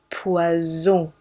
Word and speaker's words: poison: This S, solo S, is just like the Z in zebra. Poison.